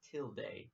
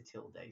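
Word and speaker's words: tilde: is called a till pronounced till day it's a till day see you learn something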